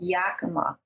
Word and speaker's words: Yakima: go to Washington State to a town called Yakima think that's how you say it glyphosate was